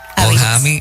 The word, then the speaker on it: Ohamie: ¿Cómo se escribe Ohami? O H-A-M de mamá y E. Ojami.